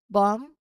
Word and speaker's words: bomb: out for it late after an M at the end of the word or before a T. So these are consistent patterns in English that will help you pronounce these words accurately. Let's try saying these words aloud together, really focusing on keeping that B quiet where it should be.